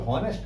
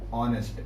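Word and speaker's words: honest: इसको क्या पढ़ते हो, हॉनेस्ट नहीं, ऑनेस्ट। एच साइलेंट होता है, ऑनेस्ट।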